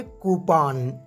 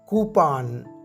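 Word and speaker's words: coupon: गलत प्रोनाउंस करते हैं इसकी दुष्ट प्रनंसीएशन है कूपन कूपन उर्दू में आप बेशक इसे ओपन ही कहे हैं लेकिन जब बात करनी हो इंग्लिश में तो इससे सही प्रोनाउंस करें उपाय नेक्स्ट वर्ड है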